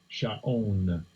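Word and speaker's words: שָׁאוֹן: And I didn't hear the pronunciation. Strong's H, 7588. Sha'on.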